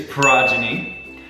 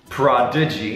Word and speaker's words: progeny: gods there we go it is progyny not Prodigy very different that is the series